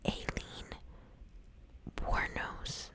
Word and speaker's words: Aileen Wuornos: So, I am going to do Aileen Wuornos. I believe that's how I heard you pronounce it.